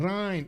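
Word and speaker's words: Rijn: region was pronounced, very similar to Rhine. Oh, Rembrandt van Rhine. Oh, I see. Since Rhine is also the Dutch name for that river.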